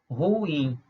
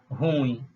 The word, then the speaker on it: ruim: uma paroxítona não é a palavra é uma oxítona a pronúncia correta é ruim e não ruim quando a gente desloca